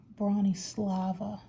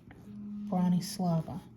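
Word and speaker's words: Bronislava: from the very beginning from a youtube podcaster brawny slava and that is spelled let's see b-r-o-n-i-s-l-a-v-a brawny slava i learned at a knit from her tutorials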